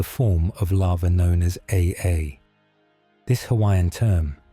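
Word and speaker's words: ʻaʻā: In stark contrast to the smooth ropey surface of pahoy hoy is the form of lava known as aa. This Hawaiian term pronounced a r perfectly captures the experience one might have trying to walk across its surface barefoot.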